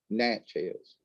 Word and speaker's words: Natchez: that's how they say it down in alabama natchez but anyway um oh yeah okay so um